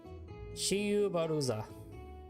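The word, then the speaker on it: Schwarzer: In Japanese, because of the pronunciation language, they pronounce it Shiyu Baruza.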